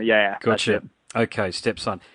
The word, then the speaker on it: Stepson: about you guys again is it stepson is that how you pronounce the name of the band stepson step like your stepson kind of yeah gotta okay stepson how long have you